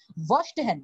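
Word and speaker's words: Verstehen: হ্যাঁ, দেখেন এখানে উচ্চারণটা আছে ভার্স্টহ্যান, জার্মান একটা ওয়ার্ড।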